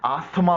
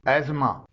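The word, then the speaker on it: asthma: अल्फाज में साइलेंट है जैसे एजमा इसे आमतौर पर हम लोग अस्थमा बोलते हैं जो कि गलत है इसकी सही प्रोनंसिएशन है एजमा मॉर्गेज इसमें भी टी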